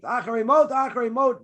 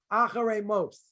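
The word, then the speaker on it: אחרי מות: In other words, so if you see a tav, and it's got a dot in the middle, then everyone pronounces it like a tav. If it doesn't have a dot in the middle, Sephardic people will still say tav, like Acharei Mot. Some people will say Acharei Mos, right?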